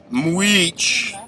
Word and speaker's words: Mujich: dave shut up this is episode six muich even though it's pronoun or it's it's spelled mujich or majjitch whatever the [ __